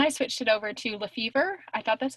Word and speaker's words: Lefebvre: problem with it because in my head, I'm pronouncing it Lefebvre. Yeah, right. And for a couple of years, I literally thought that's how you pronounced it, and then I switched it over to Lefevre.